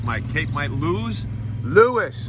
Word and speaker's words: Lewes: Lewes, like St. Louis. Oh, okay, but nothing to do with St. Louis.